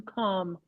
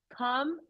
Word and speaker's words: calm: And check on the pronunciation, calm. Remember, Enrique told us about castle too? Calm, no suena la L. Calm.